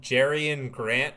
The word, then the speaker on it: Jerian Grant: Uh then we have what Jerian Grant for the Wii Wizards.